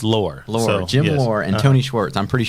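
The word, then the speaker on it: Loehr: I don't even know how to pronounce his last name. Lair, I think.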